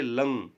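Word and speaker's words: लङ्: लंग लकार, ये भी है लंग। इसको ng करते हैं, ण करके उच्चारण नहीं करते इसका, क्या करते हैं? ng, नाक के सुर से बोला जाता है ng।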